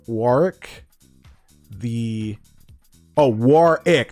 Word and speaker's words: Warwick: You pronounce his name Warick. The Oh, Warick. Not Warwick. The second W is silent.